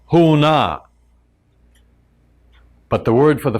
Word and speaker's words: Huna: for the philosophy is Huna big difference and the secret I'm going to share with you the secret is contained in the two syllables who and na because who is a